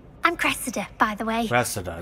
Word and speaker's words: Cressida: Cressida, that's how you pronounce it.